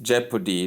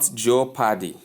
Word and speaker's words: jeopardy: So the word is pronounced jeopardy not joady or some other thing